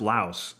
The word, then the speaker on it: Laos: Why does everyone say I I am told that the people and the language are Lao, but the country is pronounced Laos in English.